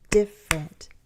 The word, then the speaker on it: different: We say that with 2 syllables. Different, different.